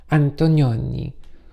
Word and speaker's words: Antonioni: I remember seeing The Red Desert by Antonioni, and you really have to say it like that. Antonioni.